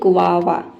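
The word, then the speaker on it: guava: आधा ग रहेगा। उसके बाद व रहेगा और फिर से व रहेगा। तो इसको हम बोलते हैं ग्वावा।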